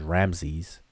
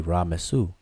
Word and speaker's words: Ramses: But we say it as Ramses, but it's really Ra-Mesu.